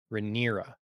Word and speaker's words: Rhaenyra: Princess Rhaenyra? Rhaenyra.